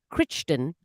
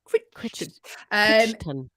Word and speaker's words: Crichton: Michael Crichton was the author of the Jurassic Park books.